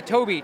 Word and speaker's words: Tobii: Those are the GT72 Tabby, which it's spelled, I'm sorry, the Tobii, Tobii.